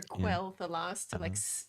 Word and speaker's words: Quel'Thalas: I say Quel'Danas or Quel'Thalas, to put a big like KWEL on the screen, because I got a really grumpy comment telling me not to pronounce it as if it's French.